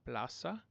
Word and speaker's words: plaza: So whether you see an S or a Z in Spanish, it's always going to be like an S sound. So it's la plaza.